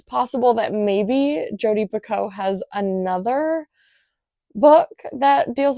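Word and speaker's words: Picoult: other name by Jodie Pico." And I've been saying Pakult. So, I don't know if I've just been pronouncing it wrong forever or if I heard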